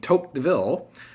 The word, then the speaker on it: Tocqueville: And so there was a Frenchman named Tocqueville, is how you pronounce his name, and he came and he went all around the U.S.